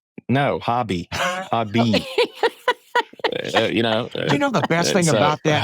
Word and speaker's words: Hobby: Hobby is pretty. I mean, Hobby Lobby. I mean, everybody's heard of it.